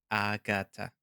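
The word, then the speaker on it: Agata: So it's Agatha. I guess you could say it's Agatha, but Agatha.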